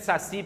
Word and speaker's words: saci: Qual é a sílaba tônica de saci, pessoal?